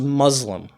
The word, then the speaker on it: Muslim: in the Arabic language the letter that is represented by S here um it never makes the Z sound okay the English s can make the sound s or Z depending on the word that it's in the Arabic letter scene never does that so Muslims we don't